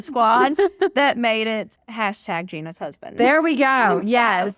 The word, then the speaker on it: Ginna: start running like okay so it's Gina but it's obviously spelled with two ends which confuses people and